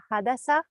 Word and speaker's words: Hadasa: And the next in line, I'm really sorry if I mispronounce your name, Hadasa. Yeah, you pronounced it correctly.